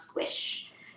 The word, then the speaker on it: SQSH: queer plus support helpline which is sqsh affectionately pronounced squish um and are pursuing